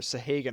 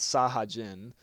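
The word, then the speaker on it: Sahagin: I can't pronounce their fucking names, but I've been calling them Sahagan for like the past 2 years, but I think they're called Sahajin. I think that's the way most people are saying how to pronounce them.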